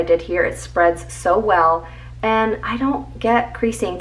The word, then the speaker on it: W3LL: This is by the brand Well People. It's spelled W3LL, and this is their Bio Brightener Invisible Powder.